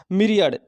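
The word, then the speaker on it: myriad: meeting है मेरी अड़ अब देखेंगे इसका उच्चारण रहेगा मिरियड ले कि हमको मिरियर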